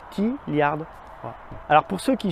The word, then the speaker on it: Tlyard: chez tiliard ah oui je sais je sais que ça s'écrit tiliard parce que en fait le T se prononce seul un peu comme Mister te donc t liard VO alors pour ceux